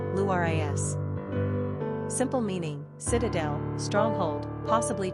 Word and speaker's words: Larissa: Pronunciation, Luris.